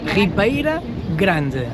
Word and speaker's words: Ribeira Grande: How do you pronounce the city? Ribeira Grande. Give it a try. Ribeira Grande.